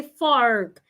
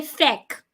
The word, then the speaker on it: fork: Americans say fork. Never say feck. F-O-R-K is not pronounced feck.